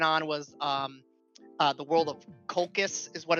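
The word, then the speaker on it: Colchis: He came, I think the world he went on was the world of Kolkis is what it's pronounced as.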